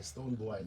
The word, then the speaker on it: Stonebwoy: It's boy, Stonebwoy, so that you get a pronunciation right.